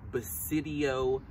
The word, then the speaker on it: Basidiomycota: So bass like the what? Fish. Bass like the fish. Bass. Grandpa might catch them. Sid like Sid the science kid.